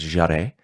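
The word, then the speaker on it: Jèrriais: I think it's pronounced Jarret, which is closely related to French.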